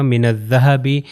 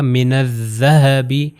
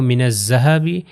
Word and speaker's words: الذهب: کی طرح تلفظ ہے، یعنی اوپر اور نیچے والے دانتوں میں زبان تھوڑی سی باہر آئے گی، زبان جب باہر آئے گی تو ہوگا من الذهب ذهب. اگر میں کہوں من الذهب جو زے والے سے